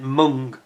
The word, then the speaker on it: MENG: based in Hong Kong, MENG, or as somebody's told me, you're actually supposed to pronounce it Mung.